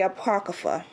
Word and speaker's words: Apocrypha: dictionary a portal open and we have the Apocrypha unless let me press this button so you